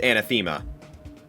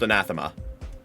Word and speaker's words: anathema: It's not pronounc the word is not pronounced anathema. It's pronounced anathema.